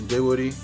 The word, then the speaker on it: Dinwiddie: Spencer Dinwiddie, that's how you pronounce his last name.